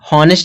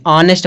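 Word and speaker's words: honest: ऑनेस्ट मैन, ऑनेस्ट दिया, हॉनेस्ट नहीं पढ़ेंगे, ऑनेस्ट पढ़ेंगे। तो जो यह यच है, यह यच, इस यच का उच्चारण नहीं हो रहा है, इसीलिए आर्टिकल क्या लगेगा, एन लगेगा, क्योंकि यच साइलेंट है।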